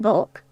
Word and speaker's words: balk: Balk, pronounced bulk.